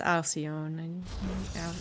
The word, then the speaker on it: Alcyone: I can get Hecate, but it should be pronounced Alcyone. Alcyone. It's not the way it's supposed to.